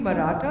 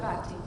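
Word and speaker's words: Marathi: I saying it right should it be marata or marati culture marati marati culture is talked about you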